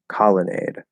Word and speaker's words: colonnade: But what syllable is stressed the most in lemonade, promenade, and colonnade? That. Lemonade, promenade, colonnade. Yeah. So it'd be the first syllable.